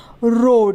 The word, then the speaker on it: road: उसी तरीके से रोड, ROAD, रोड, यहाँ पर भी OA है और OA को ओ पढ़ेंगे, तो ये बन जाएगा रोड, र पे ओ की मात्रा, ड, रोड, ROAD, रोड।